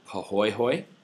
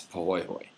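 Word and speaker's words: pāhoehoe: So the two main types of lava flow you need to know are what are called poy hoy right which is this first one and the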